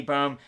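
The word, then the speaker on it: Böhm: You got to pronounce the O umlaut that I couldn't get in this text format. I have Mandy Bohm to beat Victoria Leonardo, but again, Leonardo has decent pressure, good boxing combinations.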